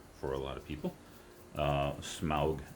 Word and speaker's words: Smaug: Smaug, the dragon from The Hobbit, rhymes with August.